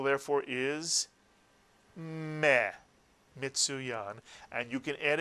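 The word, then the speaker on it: מי: This is the word we've just read as a syllable. It is me, exactly right.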